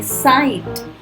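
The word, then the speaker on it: sight: अब कहीं पर GH अगर बीच में आता है तो हम प्रोनाउंस नहीं करते, जैसे साइट, राइट। उसमें आप ना G बोल रहे हो ना H बोल रहे हो, ये पूरा ही साइलेंट है, राइट।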